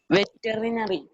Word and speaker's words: veterinary: Ma'am, veterinary. Veterinary. Shivandia? Ma'am, veterinary. Veterinary. Okay. Anlia? Veterinary. Hmm? Yes. Veterinary. Veterinary. Okay. All right. Tia? Veterinary. Veterinary. Okay. Pratana? Ma'am, veterinary. Louder, please. Veterinary. Veterinary. Veterinary. 5 syllables.